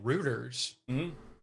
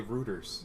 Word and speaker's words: Reuters: wave of hacktivism and so many canadians say reuters yeah roto-rooter i know i know i know i've heard a lot of canadians pronounce it that way uh i believe down here we pronounce it reuters reuters yes what the is wrong with you people i mean that's how the company says it's pronounced i think it is